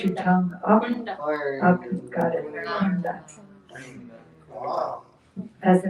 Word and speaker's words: Kunda: is where put your tongue up, got it, kunda. As the name suggests, and if you listen carefully when the Bengali devotees preach, you can learn, sing, you can learn a lot about pronunciation. Huh? Radha Kunda.